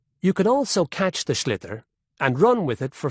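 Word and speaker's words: sliotar: And basically, you have to get this ball called a schlither.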